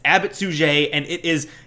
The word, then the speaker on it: Abbot Suger: Now, I know it looks like Abbot Sugar, but you should not say it like Abbott Sugar. It is Abbot Suger, and it is not a porn star's name.